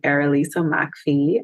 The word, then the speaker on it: Errolisa McPhee: um so if you look up my name erisa Mai I will be right there that's a peculiar name so I'll spell it it's spelled e r r o l